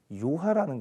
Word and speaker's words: 요하: 이 강이 요하라는 강이에요. 요하. 중국 발음으로는 랴후어 강이라고도 하는데요. 그냥 한자로 읽으면 요하. 한자로 읽는 게 편해요.